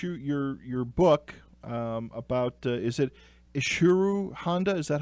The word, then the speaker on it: Ishiro Honda: But of course, your book about is it Ishiro Honda? Is that how it's pronounced? Yeah, Ishiro Honda. Ishiro Honda.